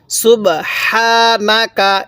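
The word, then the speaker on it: سبحانك: ভাবে শিখবো তাহলে সুবহানাকা অনেকেই আমরা এই হাটা উচ্চারণের সময় একটু আওয়াজ করে থাকি গলার মধ্যে যদি এই হাটা উচ্চারণের সময় মুখে আওয়াজ করি তাহলে পড়াটা সহি শুদ্ধ হবে না এই হাটা উচ্চারণের সময় গলার মধ্যে একটু বাতাস বের করতে হবে সুবহানাকা এরকম ভাবে পড়বো তাহলে কলু সুবহানাকা এরকম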